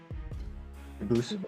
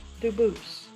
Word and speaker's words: Dubus: They do pronounce it dubis, but you said you pronounce it dubus as the original dub boost as the original French. Very well. Duboose.